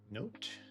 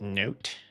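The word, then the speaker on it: Nótt: And then we have July, which has note. Where is note? I remember when I called her not. And the comments got so mad. Actually, it's pronounced note. Like the book kind.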